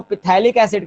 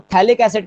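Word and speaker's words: phthalic acid: इसके common name, कई लोग इसको पिथैलिक एसिड कहते हैं, पी भी जोड़ लेते हैं, मगर पीएच साइलेंट होता है, ठीक है। तो इसको पिथैलिक एसिड नहीं, इसको थैलिक एसिड कहते हैं, पीएच साइलेंट होता है, ठीक है।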